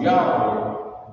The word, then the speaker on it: Yahweh: So as represented by these four characters in Hebrew, it is pronounced Yahweh by the Hebrew-speaking people.